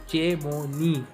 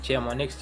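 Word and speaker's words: Chamonix: सो ये नाम को जो है इसको आपको ठीक प्रोनाउंस करना है, इट इज़ चेमोनी, नॉट चेमोनिक्स या शेमोनिक्स, इट इज़ चेमोनी इन फ्रांस।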